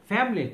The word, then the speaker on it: family: of vitamins and minerals than the word family family cool here is silent two syllables family right this is my